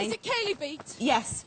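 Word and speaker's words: Chalybeate: Is it Kaybe? Yes. Kay beats. Right. Okay. Shay beat shows we've never heard of it. And local pronunciation.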